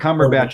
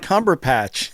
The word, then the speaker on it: Cumberbatch: It was Benedict Cumberbatch as Smaug was pretty cool. What'd you say? Benedict Cumberbatch as Smaug was pretty cool. There was really great pieces. Smaug was the dragon. It's not Cumberpatch. It's Cumberbatch.